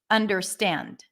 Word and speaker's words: understand: stress by the way understand the primary stress is at the end understand stand stand right that is the one syllable that sticks out the most it's longer louder and higher and Pitch under under under under that is unstressed but un is a little bit more stress than dur understand T da now